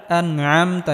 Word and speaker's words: أنعمت: সিরাতাল্লাযীনা আনআমতা, এখানে আইন গলার মধ্যে হালকা চাপ দিয়ে উচ্চারণ করতে হবে।